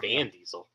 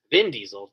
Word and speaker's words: Vin Diesel: Vin Diesel. Vin Diesel. Why Van Diesel? Yeah. And I know I said it wrong. Vin Diesel. Duh.